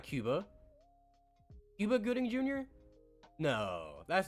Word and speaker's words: Cuba Gooding: I mean yeah I mean it's it's actually Cuba Gooding wow am I I have to you know